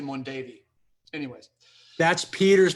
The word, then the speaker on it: Mondavi: Yeah, I actually drove a forklift at Mondavi for a few weeks before I got that winemaking gig in Grayton. I would give you credit for that, but you pronounced it incorrectly. It's actually Mondavi.